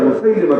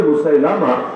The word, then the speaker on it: মুসাইলিমা: নবুয়তের এক ভন্ড দাবিদার মুসাইলিমা কাজের কাছে লোকে বলে মুসাইলামা শুদ্ধ উচ্চারণ হলো মুসাইলিমা এ হলো সেই ভন্ড